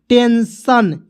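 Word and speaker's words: tension: तो टीई एन देखिए टी इ एन एस आई ओ एन क्या पढ़ेंगे टेंशन ठीक है उसके बाद पी ई एन एस आई ओ एन पेंशन सन के रूप में पढ़ेंगे टन के रूप में नहीं पढ़ेंगे दोस्तों ठीक है उसके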